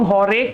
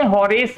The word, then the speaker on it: Horace: ठीक है, इसको हम लोग हॉरेक भी बोलते हैं, हॉरेस भी कई लोग बोलते हैं।